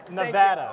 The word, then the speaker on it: Nevada: grew up in rural Nevada Nevada you have to say it like apple I'm I'm a I'm